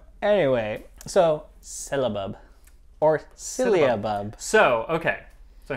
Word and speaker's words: syllabub: But yeah, it should be pronounced syllabub.